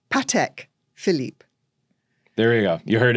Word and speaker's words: Patek Philippe: you can answer this is how do you pronounce pek Philip well it's not peki it's not petique it's Patek Philip there we go you heard it here pek